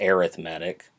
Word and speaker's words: arithmetic: when it's used as an adjective here it's arithmetic pronunciation changes don't blame me blame the english people